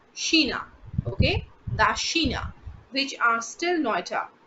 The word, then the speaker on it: China: that is das afrika spelling is absolutely safe but just the pronunciation is different that's sheena okay which are still